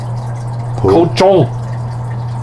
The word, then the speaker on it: cochon: Cochon. Or cochon. Cochon. If you want to pronounce it incorrectly.